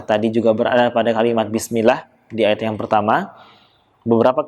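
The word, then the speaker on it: بسم الله: Harusnya Bismillah. Yang kurang tepat Bismillah. Oke. Kita lanjutkan lagi membacanya. Ayat yang ke-1 ini yang pertama dengan tanpa huruf M pada huruf B-nya. Ba, bukan mba.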